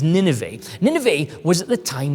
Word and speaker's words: Nineveh: So Nineveh, and in some contexts you maybe have heard it pronounced as Nineveh, but its proper pronunciation is Nineveh.